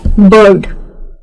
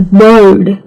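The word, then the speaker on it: bird: आपको आर सुनाई नहीं देगा जब मैं कह रही हूं। कई लोग ब्रिटिश लोग भी जिसे हम बर्ड कहते हैं तो वो आर होता जरूर है लेकिन सुनाई नहीं देता है।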